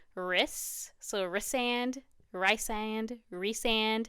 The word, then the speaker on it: Rhysand: Rhys, so Rysand, Rysand, Rhysand. I think it is Rhysand because I remember seeing the phonetic, I don't know, pronunciation of the name.